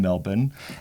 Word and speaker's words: Melbourne: in that sentence wasel you pronounced it correctly you didn't you didn't drag that out why thank you well done not Melbourne not Melbourne no melb well done well done